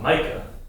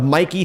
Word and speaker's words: Meike: Mikey 35 millimeter 1.7 I'm pretty sure it's pronounced Mica yeah no not in this office it's not we love Mikey the Mikey 35 millimeter 1.7 might